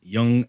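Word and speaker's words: Yonge: album called Yellow Fever by an artist named young jaundice um yes that is his name it's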